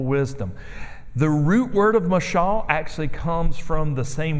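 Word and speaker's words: מָשָׁל: But if you look in the Old Testament, the word for parable is called mashal, is how it's said.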